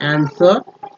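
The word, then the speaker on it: answer: आंसर में जो है डब्लू का साइलेंट समझ सकते हैं ठीक है आंसर आंसर आंसर लोग कन्फ्यूज मैं भी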